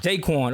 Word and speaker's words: Jaquan: Jaquan.